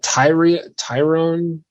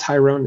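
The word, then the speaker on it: Tyrion: Yeah, Tyrone. I think that's pronounced Tyrone. It's spelled funky.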